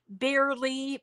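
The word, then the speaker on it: Bearly: This site can be found at Barely, it's spelled B-E-A-R-L-Y, because that's their mascot, is a bear.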